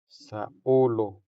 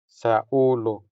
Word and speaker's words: saulo: say saulo saulo This word has three syllables. Sa o lo The stress falls on the second syllable. Which is our first o sound. Since this o sound is stressed, it sounds longer than the unstressed o.